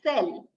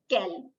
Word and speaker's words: cell: So this letter C, this will be pronounced as sir, as in cell, when it is followed by letters E, I, or O. Sorry, E, I, or Y. For instance, scent, Cinderella, Lucy. You see, when C is followed by E, I, or Y, you'll pronounce it as sir. That's why we call it as cell and not kel, right?